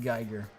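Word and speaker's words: Giger: here tiger you know it's pronounced geiger berenstein bearing stain uh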